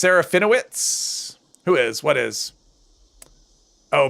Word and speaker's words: Serafinowicz: Pronounced Serafinowicz.